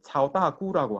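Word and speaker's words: 曹大家: 그래서 이제 어 조시의 어 큰 어떤 학자다라는 그런 뜻에서 조대가 근데 이거를 따제하라고 안 읽어요. 읽 읽으면은 여러분 찾아보면 따꾸라고 읽어요. 그래서 이제 차오다구라고 하거든요.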